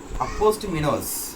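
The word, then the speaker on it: apostemonous: இன்னொன்று அப்போஸ்டிமினோஸ். அதாவது அது எப்படி ப்ரொனவுன்ஸ் பண்ணோம் அப்படின்னா அப்போஸ்டாமினோஸ்.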